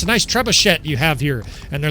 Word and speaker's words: trebuchet: I think it's French, right? The trebuchet. Trebuchet. I've heard people pronounce it. I'm almost certain it's trebuchet.